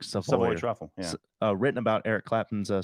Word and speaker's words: Savoy Truffle: Savory truffle. There is no R. It's like Savoy truffle.